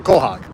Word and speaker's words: quahog: Do you have a QA hog? Pick one. If you're from here, it's a quahog. So pronounce C-O-H-O-G, quahog.